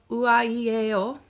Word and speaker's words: Uaieo: So the artist I'm sharing today is called Uaieo. That is like the vowel sounds.